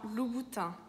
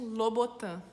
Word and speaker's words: Louboutin: a sola vermelha, que em francês a gente fala Christian Louboutin. Louboutin. E aqui no Brasil é Christian Louboutin.